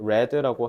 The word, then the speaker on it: read: 그러니까 called라고 하면 되고, read는 똑같이 쓰는데 스펠링이 발음이 read라고 하셔야 되고, spend는 spent라고 해야 되고,